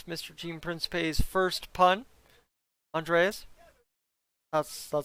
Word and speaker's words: Andreas: Andreas.